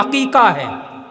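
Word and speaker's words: अक़ीक़ा: वह अकीदा नहीं है वह अकीकाह काफ से अकका जो लोग जानते हैं व जानते हैं जो लोग नहीं जानते हैं जान लीजिए उसको अकी का उच्चारण कीजिए और अकीदा होता है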